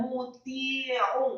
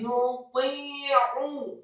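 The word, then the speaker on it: نُطِيعُ: Cara membacanya tidak muti'u. Salah yang betul adalah lidahnya di langit-langit atas seperti ada tarikan. Nuti, jangan muti, tapi nuti'u.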